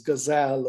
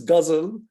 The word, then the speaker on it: ghazal: He introduced an Indian formal verse structure called ghazal, mispronounced in America as gazelle or gazelle, which is difficult for us to hear, but it's ghazal.